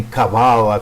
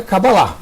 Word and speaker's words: Cabala: com H no final, outros pronunciam até Cabalá, que seria correto do ponto de vista do hebraico, gente. Do hebraico é Cabalá. A palavra correta é Cabalá, mas a gente está no Brasil. E como a gente está no Brasil, a gente tem que pronunciar da forma que o brasileiro fala. Então é Cabala.